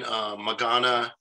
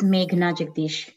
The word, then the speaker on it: Meghna Jagdish: There's a link to it, and we'll be having Magana. How do I pronounce that last name correct, Aparna, without appearing? It's Meghna Jagdish, yeah.